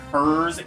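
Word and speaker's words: Herrs: It's spelled U-T-Z, Utz. We also have Hers, H-E-R-R-S.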